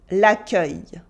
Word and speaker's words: l'accueil: L'accueil.